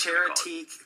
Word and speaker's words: Charitee: Charity challenge.